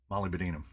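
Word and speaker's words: molybdenum: denum e ew uh it's Molly bam Molly Binum it's just like I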